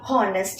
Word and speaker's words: honest: Okay, honest னு சொல்லும்போது நமக்கு H ஓட அந்த பிரீத்திங் சவுண்ட் கேட்காது. H ஓட சவுண்ட் என்ன? பிரீத்திங் சவுண்ட் தானே. அந்த சவுண்ட் இங்க கேட்காது.